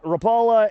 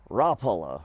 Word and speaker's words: Rapala: This is our Rapala F-18 Rapola. I've heard people pronounce it nine billion different ways.